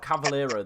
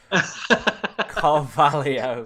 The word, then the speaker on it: Carvalho: Oh, I missed the R, mate. I'm really tired today. Carvalho. Said that then, and I was like, Cavallero. Yeah. Oh. No, the only reason I've got Carvalho is because Shard has